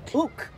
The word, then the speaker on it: uke: Ook or uke? Ook. Ook. It's the ook.